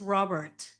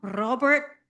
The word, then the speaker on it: Robert: Normally I would pronounce this Robert, right? It's a very Anglo pronunciation, but I was told I have to roll my R, so, and I don't